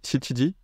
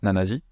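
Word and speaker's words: 七時: et non pas Yanji c'est chiji et non pas nanaji et c'est kji et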